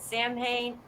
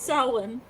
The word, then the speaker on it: Samhain: It's Samhain, not Samhain. Samhain, pronounced Samhain.